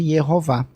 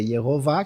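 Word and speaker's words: יהוה: Então, quer dizer, Yehová, que é pronunciado Adonai, que vira Kyrios e Senhor.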